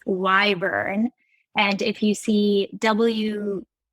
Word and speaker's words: Wyvern: We're going to talk about, actually, it's not Wyvern, it's Wyvern. And if you see WYV, it's not pronounced Wiv or Wive, it's pronounced Wyva.